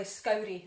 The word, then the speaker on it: Scourie: So Sandy Thompson tells us that Scourie is actually Scourie, and it rhymes with Gowrie.